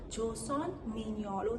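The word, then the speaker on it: 조선미녀: Koreans don't pronounce it as "Beauty of Joseon." How do they pronounce it? They pronounce it as "Joseon mi-nyeon."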